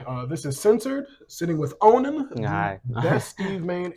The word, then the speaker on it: Onin: It's actually pronounced Onin, right?